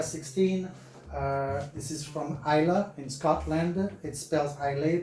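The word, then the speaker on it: Islay: uh this is from isla in scotland it spells highly but it's pronounced i love so just keep that in mind so next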